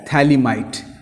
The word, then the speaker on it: phthalimide: Formation of salt of, ये pH silent रहता है, थैलिमाइड।